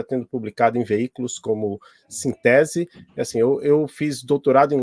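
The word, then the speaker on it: Synthese: Eu falo Sintese, não sei se a pronúncia é correta. Sintese, é isso mesmo, Adolfo.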